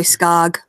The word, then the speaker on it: Skoog: Yes, How do you pronounce his name? I say Skog, I say Skog. Skog. Okay. but I'm from Wisconsin.